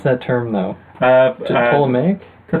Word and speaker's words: Ptolemaic: How do you pronounce that term, though? Ptolemaic? The Ptolemaic, yeah.